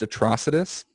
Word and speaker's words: Atrocitus: It's just it's pronounced atrocitus. Get it right?